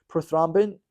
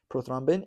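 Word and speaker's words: prothrombin: and published something incredible about the level of proin uh proin oh no s I'm saying it wrong proin proin it's a kind of hard word to say prothombin in a newborn's body so scientist basically came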